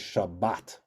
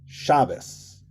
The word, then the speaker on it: Shabbat: it shabis and and the saric pronunciation is Shabbat also notice that the emphasis is in different places ashkenazic it's always on the penultimate shabus right shab shabus yeah chabus and in in sparik it's always on the last syllable shabat okay all right that's